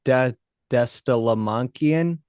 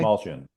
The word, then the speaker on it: Dastmalchian: I said the actor's name wrong earlier today. I gave him the wrong first name. David Destalamankian. Oh, That David guy. Dastmalchian.